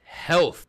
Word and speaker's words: Hellth: band from Monmouth UK they're called Health but it's spelled h-e-l-l-t-h like hell with the th this song's called creature